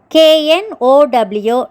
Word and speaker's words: know: அடுத்தது KNOW, no. இங்கே K silent.